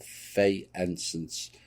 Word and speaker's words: faience: Now, a necklace found with the skeleton was made of phaeacents, or faience beads. Not pronounced that right. It looks like fay to me.